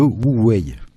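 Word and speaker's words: 無為: site Atlantico qui m'a appris ce qu'était le Wu Wei, que j'ignorais jusqu'à présent.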